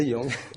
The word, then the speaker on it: Zhejiang: Vous venez de Wenzhou, c'est dans la province de Zhejiang, je prononce correctement. C'est ça, Zhejiang.